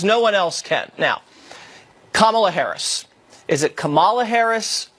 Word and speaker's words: Kamala: Is it Kamala? It's Kamala. That is correct.